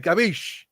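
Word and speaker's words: capisce: Gabish.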